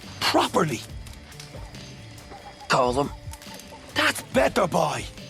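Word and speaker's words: Colm: them it was wrong they didn't care it's pronounced colum it's not col he likes col and you like breeding so say colum properly colum that's better boy how did you manage to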